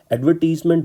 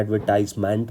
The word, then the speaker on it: advertisement: एडवर्टीजमेंट British pronunciation है, कुछ लोग इसको गलत प्रोनाउंस करते हैं, एडवर्टाइजमेंट पढ़ते हैं। हालांकि यूके की हम प्रोनाउंसिएशन फॉलो करते हैं, तो हमें इसको एडवर्टीजमेंट ही पढ़ना है।